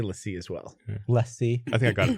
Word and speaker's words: LaCie: Yeah, he just designed every Lacy drive for some reason. You say Lacy? I say LaCie as well. Lacy.